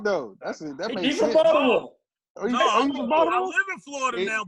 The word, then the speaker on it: Baltimore: You gotta say it right though. Baltimore. We don't say, hey, Juice. If you ever run into somebody that say be more, they from Baltimore County.